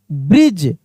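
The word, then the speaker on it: bridge: अब यहां पे डी का उच्चारण नहीं हो रहा है। डी क्या है? साइलेंट है। डी क्या है? साइलेंट। यानी इसको पढ़ेंगे ब्रिज।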